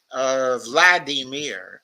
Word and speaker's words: Vladimir: by calling him, quote, Vladimir, unquote, Ugh. as opposed to Volodymyr, which is the Ukrainian pronunciation of the same name.